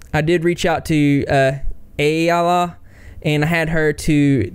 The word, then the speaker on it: Ayalla: My name is Ayala, but the easiest way to learn it is you say Ayaya, Ayala. Ayaya, Ayala, Ayala.